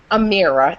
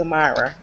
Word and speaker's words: Amyra: say her name because her name was not Amira it was am Mya and I like that